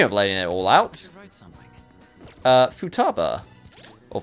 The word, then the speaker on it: Futaba: I always flip-flop between how I want to say her name. I'm not gonna lie. I mean, I guess the technical pronunciation that would be correct is Futaba. I guess it just depends if you elongate it a little bit more than usual.